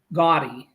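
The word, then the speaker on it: Gaudí: that created this church, his last name was Gaudi. I mean, that's how we say it in the United States and Canada. Europe, it's a little different pronunciation, but if you ever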